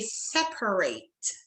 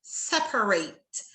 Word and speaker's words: separate: The ATE word ending is pronounced fully in verbs, but reduced in adjectives and nouns.